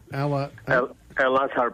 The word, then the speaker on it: Al Azhar: How do you pronounce that? Jim, how do you say that? Al Azhar? Al Azhar Park.